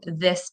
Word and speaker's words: this: So maybe they're saying dis and dat instead of this and that.